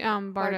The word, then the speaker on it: Bardugo: I always say Bardo.